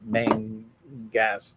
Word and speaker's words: Mangas: I spelled his name wrong, and he goes, "It's Mangas, Mangas," and so I wrote Mangaus like it was humongous kind of a thing.